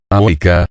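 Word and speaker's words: avica: En el caso de auca, conviene notar que la palabra ávica, cuya B se pronunciaba como la W inglesa, áuica, ha sido reconstruida a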